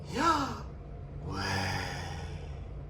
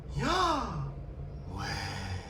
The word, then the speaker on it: Yahweh: last week or so, Yahweh is not pronounced as I just uttered it. It's pronounced as Yahweh. Yahweh. That's the sound you make when you breathe. When you take a breath.